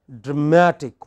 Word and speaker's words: dramatic: pronunciation say for example all words ending in IC take have this kind of stress on the pre-final so you have dramatic what is it next